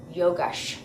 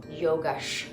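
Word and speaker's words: योगश्: Yogash. Yogash. Because all C's are pronounced ch.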